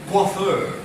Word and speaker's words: coiffeur: C-O-I-F-F-E-U-R. So the pronunciation is C-O-I, not quite. The pronunciation is qua. Why qua? Because it's a French word, but widely used in English. C-O-I, qua, F-F-E-U-R. Coiffeur.